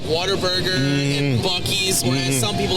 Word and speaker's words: Buc-ee's: It's Buc-ee's.